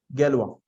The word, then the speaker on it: Galois: Gallery okay so in this is the pronunciation in Hindi galwa so this was he